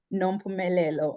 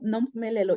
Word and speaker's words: Nompumelelo: and dad gave me this beautiful, beautiful name, Nompumelelo. I know many, when they try to say my name, they always butcher my name, but Nompumelelo in my own language, Nompumelelo, it means mother of all success.